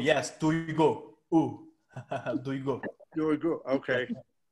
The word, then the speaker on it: Duygu: Doigu? Your name? Is it Doigu? Duygu. Yes, Duygu.